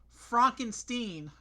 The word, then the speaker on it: Frankenstein: I've got to correct you. It's pronounced Frankenstein.